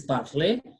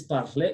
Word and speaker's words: parler: Pronounced the three are pronounced the same. The first one is parler. The second one is parler. Because of letter R, A is pronounced. So R is what is silent. Now, parler, the second one, because the E has got